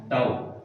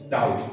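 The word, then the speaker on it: tau: এবং এটার উচ্চারণ হচ্ছে টাও। এটার উচ্চারণ কি? টাও। ঠিক আছে? নাম টর্ক। প্রতীকটাকে কি বলা হয়? প্রতীকটার উচ্চারণ হবে কি? টাও। কি বলছি বোঝা গেছে? প্রতীকটার উচ্চারণ হবে টাও।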